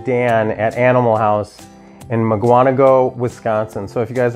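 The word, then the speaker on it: Mukwonago: It's spelled out like Muckwanago.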